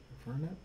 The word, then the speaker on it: Infernape: I'll just bring out Infernape.